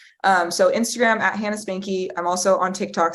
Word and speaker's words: Spanke: everything from there and that's Spanky s p a n k e yes yes I meant